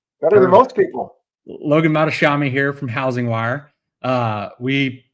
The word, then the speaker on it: Mohtashami: Well, we have Logan Mohtashami here. Did I pronounce that right? Yeah, better than most people. Logan Mohtashami here from Housing Wire.